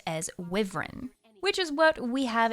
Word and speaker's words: wyvern: So in our Guild Wars universe, it's Wiv-ern.